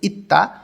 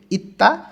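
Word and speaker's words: 있다: চলে আসি লেখা আছে ইত্তা ত ধ্বনির বাচ্চামের পরে যখন আবার দিউত আসে তখন দুইটাই ত উচ্চারণ হবে ইত্তা আছে বা থাকা স্বাভাবিকভাবে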